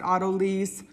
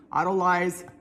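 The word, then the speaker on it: autolyse: You can pronounce it otto lease, otto lilyze, I don't care, however you want to pronounce it.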